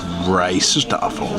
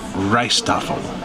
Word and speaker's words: Rijsttafel: here and we asked them they said it's pronounced rice stle so I was I was not saying it correctly so rice tle rice table well I guess what you could